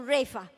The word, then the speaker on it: Wraith: He bought another Rolls Royce car which has only two doors, W-r-a-i-t-h. It should be pronounced as "Wraith".